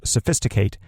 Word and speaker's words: sophisticate: that's actually a verb which means it's going to be pronounced sophisticate and this means to mix